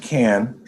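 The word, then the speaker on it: Cannes: this okay another podcast it's pronounced can right and um i was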